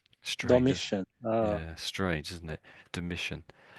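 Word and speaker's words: Domitian: This is a name you won't come across, but although it's not though it's a T, we pronounce it as dimmission. Strange. Domission.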